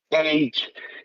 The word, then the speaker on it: CAGE: a enseñar esta prueba llamada CAGE o CAGE, si la pronunciamos en inglés, porque en inglés tiene estas siglas en cada pregunta, y son muy fáciles.